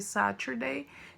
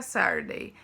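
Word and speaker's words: Saturday: no sábado também acontece aquela troca do som né ué o ter fica com som de r então em vez de satir daí fica sardei não que falar sabe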